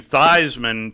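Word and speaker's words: Theismann: rambling wreck yeah uh Joe changed his name to Theisman to rhyme with Heisman so we're actually spent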